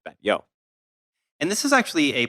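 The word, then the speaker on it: Batlló: the same in spanish and catalan and uh bad yo is b-a-t-l-l-o that's what it looks like uh but it pronounced bet yo and this is actually a place that you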